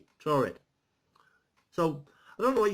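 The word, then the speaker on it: Taured: The mysterious tale of the man from Chored. The Chored, this is how it's spelled as well. T-A-U-R-E-D. Chored.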